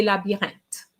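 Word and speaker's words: labyrinthe: see very often but we need to remember that the h is silent so we're going to say la birente je voile les passages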